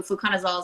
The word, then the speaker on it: fluconazole: Okay, and we have another last question about, okay, I don't know how to pronounce this. Is it fluconazole?